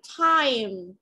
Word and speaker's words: time: Bởi vì là mọi người hay bị bỏ qua âm I mà mọi người chỉ đọc là A thôi. Ví dụ trong từ có từ là từ time. Thì mọi người sẽ thường hay nói là time, đúng không ạ?